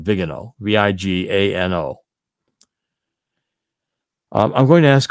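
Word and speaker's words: Viganò: That's why I think this Archbishop Vigano is so important, or Vigano, that's how you say it in Latin, Vigano, V-I-G-A-N-O.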